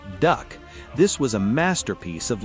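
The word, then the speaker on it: DUKW: D U KW, pronounced duck.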